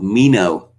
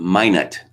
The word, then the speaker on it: Minot: and i was curious about this city of mino or so i called it because it's french word pronounced in the french way uh no no it is not they pronounce it minot which was uh took it took me aback